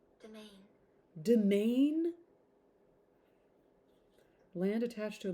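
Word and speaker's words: demesne: or territory why is domain pronounced domain the S is silent our word domain also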